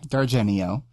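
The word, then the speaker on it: D'Argenio: Her name is Carolyn Dargenio. And the apostrophe after the D is silent, as I've figured out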